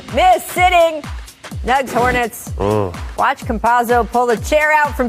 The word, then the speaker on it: Campazzo: Campazzo, yes.